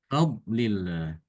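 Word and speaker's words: فضل الله: Seperti misalnya karena huruf fa dengan dot, min fadlillah dibacanya min fadlillah, fadlillah. Padahal tidak boleh demikian. Yang tebal adalah dot. Ya. Fa-nya tidak boleh ikut tebal. Fa-nya dibaca tipis.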